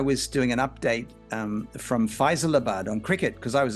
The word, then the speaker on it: Faisalabad: And luckily the director cut to Nisha and she said, Faisalabad.